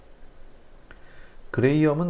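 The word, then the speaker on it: Graham: 그레이엄이라고 읽으시면 돼요. 그레이엄. 그레이엄은 사실상 이 분출 법칙이라는 용어보다는 그레이엄의 확산 법칙이라고 해서 더 유명하죠.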